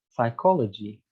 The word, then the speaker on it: psychology: Or the Greek, a Greek borrowed word, psychology, like it is written at PSY. We don't really read the P. We just say psi.